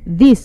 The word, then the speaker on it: this: Ingat ya, kalau ini this dibacanya singkat, pendek.